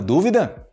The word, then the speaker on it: dúvida: Você duvida que ele tem uma dúvida? Então, dúvida, dúvida. É somente você subir um pouco o tom de voz que você usa nessa sílaba, ok?